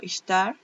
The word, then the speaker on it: Ishtar: la diosa istar istar creo que depende de como lo quiera pronunciar la gente yo que no pronuncio nada bien Nada pues pero bueno se escribe y s h t a r ella lo pronuncia como istar yo había escuchado de